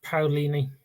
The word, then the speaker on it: Paolini: I think it's pronounced Paolini.